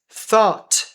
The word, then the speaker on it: thought: Thought thought aqui é o th. Não precisa ler esse U aqui e não precisa ler essas duas.